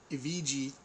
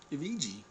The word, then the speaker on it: Evgeny: To me, Evgeny throws wide shots.